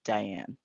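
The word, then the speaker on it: Diahann: actress uh diane carroll and that's how she spelled her name so the age is silent but it's just plain old garden variety diane it's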